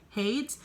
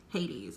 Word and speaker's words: Hades: and i realized that i have been pronouncing hades wrong i was pronouncing it hates so if you watch